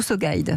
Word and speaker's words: SoGuide: êtes le cofondateur de alors on dit sa guide ou so guide se guide SO guide à la française ça s'écrit en un